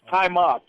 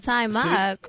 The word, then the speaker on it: Taimak: Right now, we finna go live with Taimak on the Midnight Hour Radio Show. Taimak, what's going on, man? Hi, how's everybody? It's Taimak. Taimak. Taimak, how you doing? Taimak.